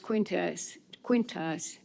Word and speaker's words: Quintas: And part of it was between Dwight Severs and a planner, Gabriel, no, I think his last name is pronounced Quintas. I had it pronounced wrong last time.